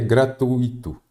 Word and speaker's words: gratuito: gratuito fortuito está errado a pronúncia correta e a escrita também é gratuito gratuito me confundi aqui com gratuito que aparece aqui a forma correta é gratuito tá bom muita a